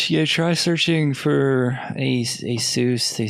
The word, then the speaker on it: Asus: a soos ASU s I used to always call that ASIS but I'm pretty sure it's pronounced a soos yeah that's the I